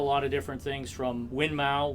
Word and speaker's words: Winmau: of different things from winmau which is actually pronounced winmore but you know most most Americans will count we'll call it Moon Mau um Target shot Dart